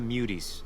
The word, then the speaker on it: muties: Our business is with the muties, not you. The muties? The muties? That's like, if you're gonna like invent a slur, at least make it sound mean. It literally rhymes with cuties.